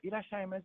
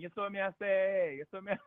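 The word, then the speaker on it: いらっしゃいませ: cute girl in a H&M store would say irashaimase. It's softer. But I didn't know. I thought they were saying yesomiase. Okay. But even though I was saying, it's the same exact duration of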